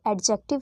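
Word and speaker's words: adjective: पहली बात यह एडजेक्टिव नहीं होता। यह एडजेक्टिव होता है। यहां पे डी जो है वो साइलेंट होता है।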